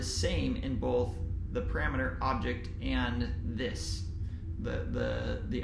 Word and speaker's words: obj: true if the parameter obj object is how would pronounce it if that parameter and